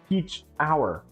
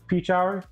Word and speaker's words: Pechauer: Peach hour. Oh, that's how it's pronounced. Peach hour.